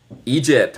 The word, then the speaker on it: Egypt: Esto es como deletrea Egipto. Y se pronuncia. E gypt.